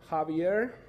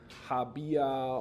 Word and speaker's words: Javier: My name is Javier. My Germans, my German friends call me because they pronounce it like Habia or or something like that. It just doesn't sound really nice in my Spanish ears.